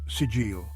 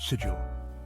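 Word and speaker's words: Sejjil: Now coming to the next question, the Iranian missile, you pronounce it sigil, not sigil. It is an Arabic word sigil.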